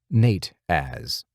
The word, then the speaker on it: Nateas: He pronounced it Nate-az.